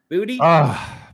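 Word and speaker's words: Boutte: Buddhy. Booty.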